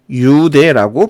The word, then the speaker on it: 뉴대: 뉴대도 한자어고 초성에 니은이 올 수 없기 때문에 유대라고 발음이 되는 것이죠.